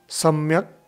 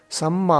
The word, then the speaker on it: सम्मा: सम्मा सम्बुद्धस्स, सम्यक सम्बुद्ध भी आपने सुना होगा लेकिन पाली में ऐसा नहीं होता है, सम्मा होता है, सम्मा सम्बुद्धस्स।